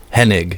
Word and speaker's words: Hennig: meaning to ask you how do you say your last name hennig hennick hennig yeah i this is the